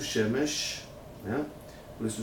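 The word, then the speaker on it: שמש: Se pronuncia Shemesh.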